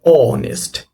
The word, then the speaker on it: honest: So it begins with a consonant like H, but here H is silent. Okay, so honest.